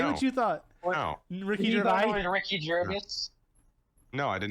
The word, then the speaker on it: Gervais: gervais yeah he's awesome now you say his name ricky gervais yeah yeah oh i guess i've been saying it wrong i thought yeah i thought you had to like since it was a ais it was like some